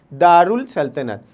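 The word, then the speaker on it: دارالسلطنت: पढ़ने में हम क्या पढ़ेंगे, दारुल सल्तनत। क्यों, यहाँ पे हमने अलिफ और लाम का इस्तेमाल किया है, जिसमें अलिफ की आवाज़ को ख़त्म करके लाम की आवाज़ को प्रोनाउंस करेंगे, और इसका मतलब होता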